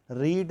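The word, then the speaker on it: read: Next example, she said Asha had रीड the book. Asha had रेड the book, उच्चारण रेड होगा, रीड मैंने कहा था, sorry.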